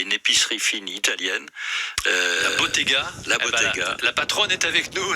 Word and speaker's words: Bottega: Alors que je prononce bien, parce que c'est italien, le nom Bottega et non pas Bodega, Bottega à Fourras, parce